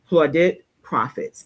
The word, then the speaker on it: Plaudit Profits: And Valerie, you let me know if I am saying your business incorrectly, pronouncing it, from Plaudit Profits, LLC.